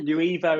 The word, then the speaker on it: Nuevo: But Nuevo is how we see it, like the new evolution of creatives and marketers.